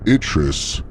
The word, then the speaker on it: Itris: He's no longer named Itris, which sort of rhymes with citrus.